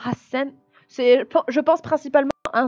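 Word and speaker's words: 八千: De toute façon, hachisen, c'est trop compliqué à dire, hein. Et donc, pour un japonais, il va simplifier en disant Hassen.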